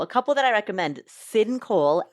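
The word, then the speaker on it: Syn Cole: A couple that I recommend, Sin Cole, S Y N C O L E, Sin Cole.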